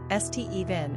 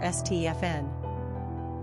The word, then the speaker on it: Stephen: Pronunciation, Stephen or Stefn.